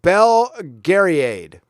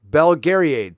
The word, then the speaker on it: Belgariad: ] boomer okay boomer it's pronounced okay Bell Gary aid belgariad thank you Thank You